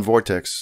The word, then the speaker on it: Vort8x: It's pronounced Vortex, but it has the digit eight instead of the E in right in the middle.